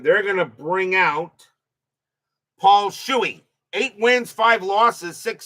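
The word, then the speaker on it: Shuey: Uh am I saying his name right? Paul Shuy or Paul? Somebody correct me on that. I'm sounding if I'm saying the ring name wrong, I'm probably saying it wrong. So, somebody checked the pronunciation on it. Patad on at second. Leed on at first. Still one out. Top of the fifth. Shuy, thank you very much. So, I am saying it right.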